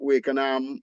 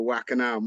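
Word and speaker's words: Wakenaam: Because I mean, you go to Wakenham or Wackenham, which is how you say it properly. Really? Yeah, yeah, Wackenham is Dutch. Wakenham Oh, is an English. We've anglicized the name when we say Wakenham.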